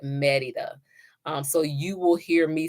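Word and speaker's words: Mérida: So you'll hear it pronounced Merida, but the local population, they call it Merida.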